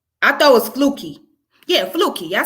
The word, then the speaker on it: Flukey: going to talk about is it is it floki i thought it was flooky yeah flookie i said it then i say flookie i thought i said fluky stoves yeah i said it right yeah flukey okay well well yeah let's go ahead because